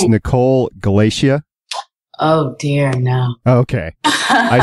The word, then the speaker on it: Galicia: them all together and you get Galicia, and it's pronounced exactly like my name.